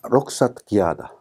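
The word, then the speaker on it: رخصة قيادة: 록사도 마찬가지로 요 발음을 하긴 하지만은 사전은 안 나오겠죠. 록사라는 단어가 면허증입니다. 그 다음에 기하다가 운전이라는 뜻입니다. 이 두 단어는 복합어입니다. 절대로 끊어 읽을 수 없는 단어입니다. 우리가 이렇게 운전면허증 붙여 적고 붙여 읽는 것처럼 이 두 사이에 띄어 읽거나 그러지 않죠. 그런 것처럼 아랍어도 반드시 읽어줘야 돼요. 그래서 여기를 T로 발음합니다.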